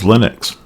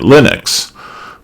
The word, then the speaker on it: Linux: But the holder of that name pronounces it Linus and we should respect his wishes and therefore pronounce his operating system kernel Linux.